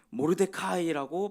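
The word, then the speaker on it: מרדכי: 모르데카이라고 발음을 합니다.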